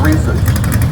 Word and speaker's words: Reese's: You say Reese's, I say Reese's. We talked about this. His name is Reese. Your opinion is wrong on the Reese's. That's pronounced Reese's.